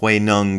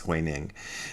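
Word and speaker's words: 慧能: It's actually supposed to be pronounced Huineng, but it's spelled as if it's pronounced Huineng, so a lot of people think it's Huineng.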